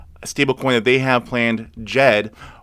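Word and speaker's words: Djed: that they have planned jed which spelt d j e d d is silent now jed is an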